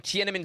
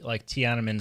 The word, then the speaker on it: Tiananmen: Brought this up in our Youtini Slack Bad Batch channel that we got really, really strong Tiananmen Square vibes in the beginning of this, didn't we?